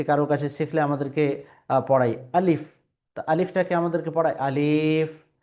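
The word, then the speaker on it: ألف: এটা এই উচ্চারণটা ভুল। এটা হলো উর্দু উচ্চারণ। সঠিক যদি আমি আরবি উচ্চারণ করতে যাই তাহলে আমাকে পড়তে হবে আলিফ। আর এখানে কোন টান হবে না।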